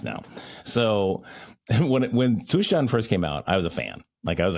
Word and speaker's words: Zustand: Yeah, I'm now doing the German way. Is it hard for you? You can't do that hard "tset" Zustand? No, no, no, I can.